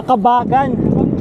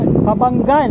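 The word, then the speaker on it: Cabangan: Kuya Mar o na bayan ng kabangan ah kabagan kabangan o Yun pala yung pronounciation 52 km first checkpoint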